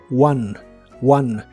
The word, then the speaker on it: won: se pronuncia como a one one y Sí suena como el número uno en inglés one en el pasado